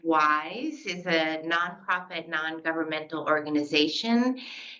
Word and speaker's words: WIIS: Women in International Security, pronounced wise, is a nonprofit, non-governmental